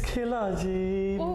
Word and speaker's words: Kila G: so how do you say your name it's kilaji and he's accompanied by his dj testes thank